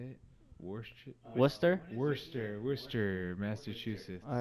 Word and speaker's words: Worcester: Worcester, Massachusetts.